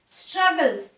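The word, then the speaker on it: struggle: স্ট্রাগল, স্ট্রাগল, দুটো জি আছে, স্ট্রাগল, গ, স্ট্রাগল। গগলস, গগলস, গ, গগলস। ব্যাগেজ, ব্যাগেজ, গ। তাহলে যখন ওয়ার্ডের মধ্যে দুটো জি থাকবে তার উচ্চারণ হবে গ।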